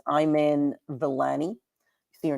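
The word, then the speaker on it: Iman Vellani: to butcher her name I believe it's pronounced I'm in villani you see your name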